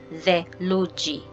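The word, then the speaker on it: theluji: Next, T and H, it will sound the same as D and H. So the sound. So an English example is think. Think. And the Swahili example is the luji.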